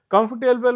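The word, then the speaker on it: comfortable: कंफर्टेबल में ओ R silent होता है तो कंफर्टेबल बोल जाता है, कंफर्टेबल बेड।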